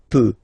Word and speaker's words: peux: as usual, so je peux, okay? Final x not pronounced here, okay? So you've got x, but you don't pronounce it, so basically you get the sound peut, je peux, okay?